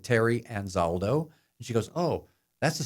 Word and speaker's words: Anzaldo: your last name is again how do you pronounce it I said Terry anzaldo she goes oh that's a strange name I